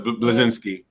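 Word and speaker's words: Bleszinski: Do you think Cliffy B, or for those who don't know, Cliff Blazinski, I can't even say his name. Blazinski.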